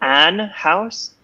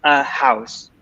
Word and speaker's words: house: also careful with them an house so a lot of students don't pronounce the H so yeah maybe you